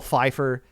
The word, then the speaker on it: Pfeiffer: silent p in it kind of like pterodactyl has a p in it uh Michelle Pfeiffer has a p in her last name so I'm assuming this